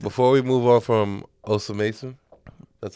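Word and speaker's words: Osamason: Before we move on from Osa Mason, that's how you say it? Osama-san.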